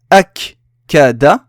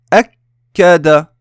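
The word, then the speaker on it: أكّد: Akada. S'il n'y avait pas de shadda, j'aurais dit akada. Akada. Mais là, le fait que j'ai une shadda, je retiens un petit peu et je prononce la voyelle.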